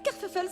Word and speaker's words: Kerfuffle: Ce sont des créations de Kerfuffle. Kerfuffle, c'est moi. Ça s'écrit comme ça se prononce, avec deux f pour le feuf.